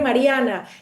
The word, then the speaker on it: Mariana: Mientras más sea yo, Mariana Tensio, la venezolana que llegó aquí como inmigrante, cuyo primer idioma es español, que pronuncia su nombre Mariana, que usa colores vivos, que tiene su cabello